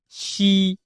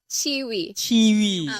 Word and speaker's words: Qiwiee: Okay, so the pronunciation, the right pronunciation is not Qiwiee, is Qiwiee. Qiwiee. Macam cheese, Qiwiee.